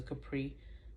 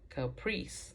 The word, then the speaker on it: Capri: I know, in fact, it was a Capri because I pronounced it Caprice, and she corrected me right away.